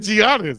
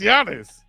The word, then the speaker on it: Giannis: you talking to him well you said Giannis it's Giannis I been I ain't trying